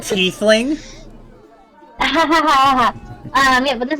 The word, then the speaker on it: tiefling: It's pronounced it's like tiefling.